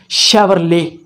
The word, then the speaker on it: Chevrolet: what we call it we call it chevrolet chevrolet this is wrong the right word is chevrolet again i am repeating